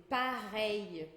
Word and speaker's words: pareil: A gente vai ter esse L, que é um I curtinho, que já vai emendado num outro I que tinha antes. Então a gente pega aquele I e emenda um I curtinho. Então fica um I um pouco mais longo. Pareil.